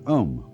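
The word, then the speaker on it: AUM: sound is used because if you spell it out a u m it runs from the back of your throat to to your lips and therefore it contains the whole range of the voice and for that reason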